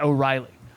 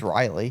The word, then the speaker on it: Riley: We got a series name because my name is not O'Reilly. But it's Riley and it's spelled differently.